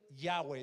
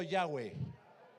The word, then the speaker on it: Yahweh: Pero para que se pronunciara, se dice Yahweh. Diga conmigo Yahweh.